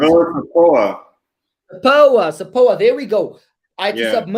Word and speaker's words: SAPOA: SAPAO, or how do you pronounce it? SAPOA.